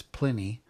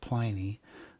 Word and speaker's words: Pliny: I've been recently told that I've been pronouncing it wrong. It's Pliny, not Pliny.